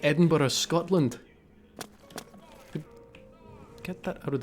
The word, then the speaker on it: Edinburgh: It is pronounced Edinburgh.